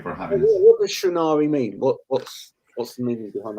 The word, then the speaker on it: Shrinari: In a minute, I'm going to be talking to Shrinari. Have I pronounced that correctly?